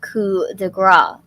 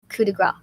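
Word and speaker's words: coup de grâce: that's going to be their point now from coup de gras coup de grace all right grace like what's the p for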